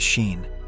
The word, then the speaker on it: Sean: young travelers, Tez and Sean, pronounced as Sheen, and an introverted man named C.